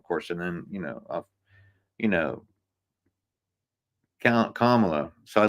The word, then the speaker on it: Kamala: And then, you know, Kamala. So I like this one. Did you ever have this new one? We're going to be doing a new meme. It's a comma with la.